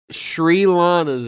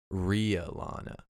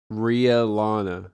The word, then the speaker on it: Rhea Lana: No, Rhea Lana. RHEA. Emphasis on the E. Some people might confuse it for Ray, but it's Rhea. Rhea Lana. Yeah. And what is Rhea Lana for those of you It's that don't it's know?